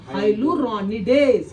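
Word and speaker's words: hyaluronidase: शाबाश, मैं चाहता हूं कि इसको प्रोनाउंस कर लो। हाइलुरोनिडेज।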